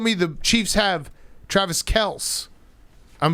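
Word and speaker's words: Kelce: kels kels brothers lc's kels brothers kelsey kells kels kells's apparently everyone has been calling travis and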